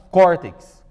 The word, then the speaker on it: córtex: Por exemplo, a palavra córtex. Córtex. 2 sílabas, a penúltima é a mais forte, termina em X, recebe o acento.